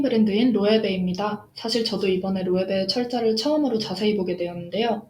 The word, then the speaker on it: Loewe: 사실 저도 이번에 로에베의 철자를 처음으로 자세히 보게 되었는데요. 왜 발음에 대한 영상을 만들었는지 알 것 같았어요. LOEWE죠. 저도 처음에 봤을 때 W가 왜 들어갔을까 궁금했어요. 스페인 브랜드이고 설립자 이름에서 따왔더라고요.